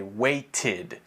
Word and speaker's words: waited: but this one pronunciation we don't say weight or something like that we say weighted it's very clearly pronounced as ID because of the T sound if you don't know